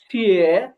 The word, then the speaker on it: 谢: হ্যাঁ, এটা হবে যে ছিয়ে ছিয়ে ছিয়ে ছিয়ে।